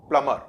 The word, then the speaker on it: plumber: So plumber, B is silent.